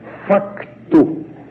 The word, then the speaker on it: facto: Os portugueses continuam a escrever facto e também pronunciam facto. No ano passado, quando estive lá em Portugal, fazendo conferências, eu tive que tomar muito cuidado para não dizer fato, como nós estamos habituados a dizer, porque eles entendem